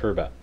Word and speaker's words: herb: And I'm Canadian, so we pronounce the H in herb. I know that in the States it's pronounced herb, I think, I believe. Yes, I'm Canadian, so we do the British pronunciation, which is herb, the normal pronunciation.